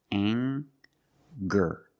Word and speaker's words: anger: We have the nasal sound plus the hard G, the G sound. Together, anger.